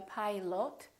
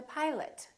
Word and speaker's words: pilot: talk to the pilot so don't say I'd like to talk to the pilot the oh and pilot becomes up I'd like to talk to the pilot let's meet for breakfast